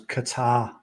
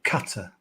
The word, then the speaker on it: Qatar: So, I've always stressed the second syllable. So it's Qatar rather than Qatar.